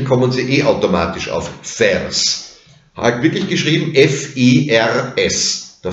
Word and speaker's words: fers: Ferris, ferris wird zu fers. Das I fällt aus. Ferris, du trägst fers. Wenn Sie ferris schnell und schlampert sprechen, kommen Sie eh automatisch auf fers.